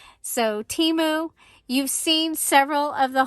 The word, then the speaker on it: Temu: introduce you to timu it is pronounced T moo like a cup of tea and a cow moo so Teemo you've seen several of